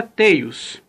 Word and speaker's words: Tails: Você pronuncia Tails, embora esteja escrito T-I-L-S, mas você pronuncia Tails.